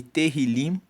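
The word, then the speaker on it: תהילים: Agora, o livro de Salmos no hebraico, ele é chamado de terrilim. Se escreve t e h i l e terilim significa louvores.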